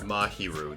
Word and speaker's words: Mahiru: by whether or not we find mahiru's killer mahiru that's how you say her name Maho nevertheless